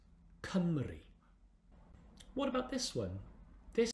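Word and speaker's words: Cymru: for wales exactly the welsh for wales is pronounced kamri what about this one this is the highest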